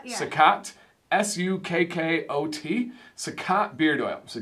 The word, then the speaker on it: Sukkot: This is pronounced, what would you say there? Sukkot? Sukkot, yeah. Sukkot, S-U-K-K-O-T, Sukkot beard oil.